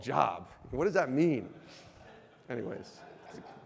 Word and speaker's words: Job: I'm not even sure if that's how you pronounce it. Is that right? Who is this job guy?